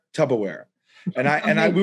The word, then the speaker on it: Tupperware: about just my buddy mispronounced the word tupperware he thought it was called tub tubberware tupperware and i and i